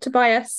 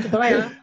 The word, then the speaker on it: Tobiah: Teachers call him Tobias, and he's like, "No, I'm not Tobias. I'm Tobiah."